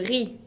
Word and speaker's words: riz: Le riz. Le riz tiene una Z final que no se pronuncia.